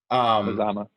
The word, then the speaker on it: Mazama: And I know you from LinkedIn specifically from video, specifically from the, and just correct me on pronunciation, from the Mazama side. Mazama.